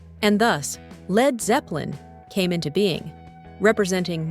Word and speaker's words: Led Zeppelin: The band's name was deliberately spelled Led instead of Lead, so that its English-speaking fans would pronounce it lead instead of lead, and thus Led Zeppelin came into being, representing